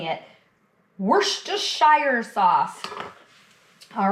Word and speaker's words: Worcestershire: You know, it seems like everybody has issues pronouncing it. worst shire sauce.